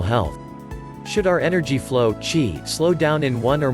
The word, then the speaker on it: qi: The Chinese call this energy flow, qi, pronounced qi.